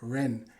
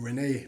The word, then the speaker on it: Rennes: Now he's a 21-year-old French national who started his career off at Stade Rennes, or Rene, depending on how you want to pronounce it.